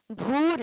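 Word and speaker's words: भूर्: भी उच्चारण करना है भूर क्या बोलना है जो र है उसका पूरा उच्चारण होना चाहिए ठीक है तो क्या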